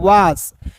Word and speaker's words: was: WAS, तो W का वो, ए है एस है, ठीक है, तो इसे पढ़ेंगे वास नहीं पढ़ते दोस्तों, इसे पढ़ते हैं वास। ए का उच्चारण यहाँ पे अ के रूप में करेंगे, क्लियर ना, क्लियर हो गया।